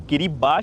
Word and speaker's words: Kiribati: किरीबाती लिखे रहता है लेकिन इसको प्रोनाउंस करते हैं किरीबाट।